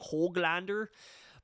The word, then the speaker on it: Höglander: I'm not sure what we're going to do with Niels Höglander. I'm trying to say it properly like they do on Hockey Night in Canada. Höglander.